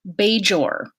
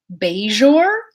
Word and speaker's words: Bajor: called beige or but you will hear people on the space station pronounce it either beige or or beige or so this is a meaningful difference in sound these are two different distinct phonemes that's beige or beige or Jeff so the difference between